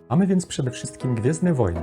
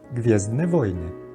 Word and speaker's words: Gwiezdne Wojny: It is not complicated: GWIEZDNE WOJNY. Important note: the letter W we pronounce in Poland as English V.